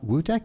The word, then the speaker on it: Wudeck: with a new friend Bob wudc did I pronounce that correctly correct all right from Ben